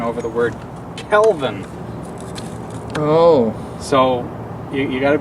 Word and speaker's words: Kelvin: with lights that are 5000 Kelvin not necessarily the 5 000 Calvin it's not a yeah it's not a person it's the color temperature